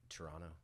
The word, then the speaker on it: Toronto: yeah good okay yeah can you even just pronounce the second T there no Toronto oh yeah okay I'm